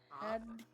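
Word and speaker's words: Tadhg: You wanna spell it? T-A-D-H-G. Tog? Tog. Tog?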